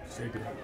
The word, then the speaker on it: Sabian: Is it Sabian or Sabina? Sabian. Sabian? All right, I did say it right.